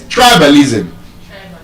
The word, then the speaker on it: tribalism: It's tribalism. It's nepotism. Nepotism. Tribalism. So those words are stressed on the first syllable.